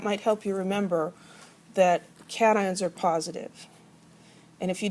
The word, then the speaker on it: cation: are called anions and these are pronounced cation and anion not casion and anion i always get one person say that so i'm just going to tell you so you can avoid embarrassing yourself cat ion and ion so anions